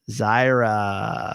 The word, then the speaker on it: Zyra: wrong God damn it it's like Myra with a z thank you Zyra hey and I always